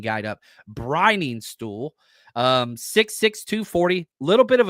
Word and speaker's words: Briningstool: You got Brenningstool. Let's see here. Jake Brenningstool out of Clemson. Let me pronounce this correctly. Briningstool. Sorry, again, better. We've got a pronunciation guide up. Briningstool.